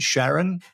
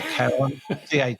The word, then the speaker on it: Charon: He's talking about Pluto and Sharon. I think that's how it's pronounced, or Karen, Charon. We'll call her Sharon.